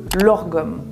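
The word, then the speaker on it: lagom: Maintenant, nous allons remonter directement en Suède où nous avons le lorgom. Ça ne se prononce pas du tout comme ça s'écrit.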